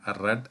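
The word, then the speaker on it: read: ഡി എന്ന് തന്നെ ആയിരിക്കും പക്ഷെ വായിക്കേണ്ടത് എങ്ങനെയായിരിക്കണം റെഡ് എന്നായിരിക്കണം ആർ ഇ ഡി റെഡ് എന്ന് നമ്മൾ പറയത്തില്ലേ അതേ ഉച്ചാരണമാണ് ഇനി വി ടു ആയിട്ട് വരുമ്പോൾ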